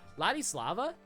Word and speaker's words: Ladislava: It's just, I don't know, like if they're going to feature characters like Ladislava, how do you say your name again? Was it Ladislava? Yeah, Ladislava.